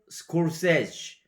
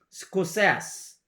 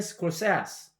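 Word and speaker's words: Scorsese: 루카스 조지 walton 루카스 이렇게 되고 또 한 명의 감독은 마틴도 마틴이 아니고 마틴 스콜세지. 근데 이거를 스콜세스 이렇게 발음해요. 마틴 스콜세스.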